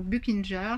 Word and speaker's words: Buchinger: Alors, vous avez la clinique Buchinger ou Buchinger, ça s'écrit B-U-C-H-I-N-G-E-R, je vous le mettrai dans le descriptif.